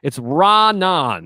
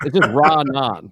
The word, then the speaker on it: Raanan: Yeah, it's a little too puffy, and Bob, I just want to say it's Raanan, because obviously you were afraid to pronounce the name wrong. That's why you had Michael do it, but it's just Raanan.